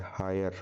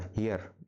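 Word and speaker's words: heir: हायर टू the throne H silent हां हियर हायर नहीं हियर क्योंकि यहां पर जो है वोवेल साउंड बन रहा है। यहां पर एच होता है साइलेंट इसको कहते हैं हियर यानी कि हियर टू द थ्रोन।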